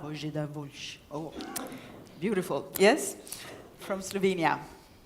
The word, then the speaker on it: Voljč: Please tell us how to pronounce it. Božidar. Božidar Voljč.